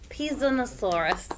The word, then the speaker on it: Pisanosaurus: bit that's the herrerasaurus and Eoraptor and the pisanosaurus pisanosaurus thank you pronunciation something like that um they were the